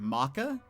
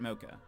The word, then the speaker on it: mocha: Like a mocha, to drink. Apparently you guys say it maca. We say it mocha.